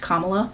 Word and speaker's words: Kamala: cannot simply remember that her name is pronounced Kamala.